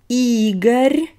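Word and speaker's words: Игорь: names so this is eager e is stressed this is the name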